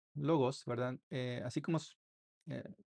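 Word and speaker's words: λόγος: La que le sigue es una lambda y se pronuncia como una l en español, como en la palabra logos. Logos. Entonces, se pronuncia logos, ¿verdad?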